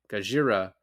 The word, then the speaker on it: Gojira: And I guess it was his decision, Watanabe's decision, to say Gajira instead of Godzilla, which also sounds, when you say it like very affected, sounds pretty close to Godzilla anyway.